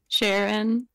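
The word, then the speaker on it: Cheren: Do I have to battle Sharon now too? Is that how you say his name? Yeah, yeah. Sharon.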